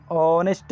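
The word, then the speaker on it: honest: ಆನ್ ಆನೆಸ್ಟ್ ಇಲ್ಲಿ ಹೋನೆಸ್ಟ್ ಅಂತ ಓದಲ್ಲ ನಾವು ಇಲ್ಲಿ ಯಾವ ರೀತಿ ಓದ್ತೀವಿ ಅಂದ್ರೆ ಆನೆಸ್ಟ್ ಅಂತೀವಿ ಆ ಆ ಎಂಬ ಸ್ವರಾಕ್ಷರದಿಂದ ಪ್ರಾರಂಭವಾಗುವುದರಿಂದ ಇಲ್ಲಿ ಎಚ್ ಸೈಲೆಂಟ್ ಆಗ್ತೈತಿ ಎಚ್ ಸೈಲೆಂಟ್ ಆಗಿ ಆನೆಸ್ಟ್ ಅಂತ ಹಾಕ್ತಿವಿ ಆನೆಸ್ಟ್ ಆನೆಸ್ಟ್ ಆಗುವುದರಿಂದ ಈ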